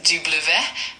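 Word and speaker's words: double vé: Uh, W in French is pronounced Dublu.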